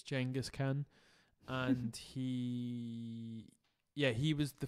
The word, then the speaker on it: Genghis: I think he's the grandson of Genghis Khan, or Genghis. That's how it's pronounced. It's Genghis Khan, and he was the first guy that was sort of trying to be multicultural.